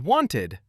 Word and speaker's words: wanted: And wanted adds an extra beat. ID.